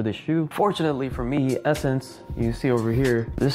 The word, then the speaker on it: Essence: Fortunately for me, Essence, you see over here, this store right here, for those that didn't know, it's pronounced Essence, it's not Sense. I know it just says Sense because it's two S's.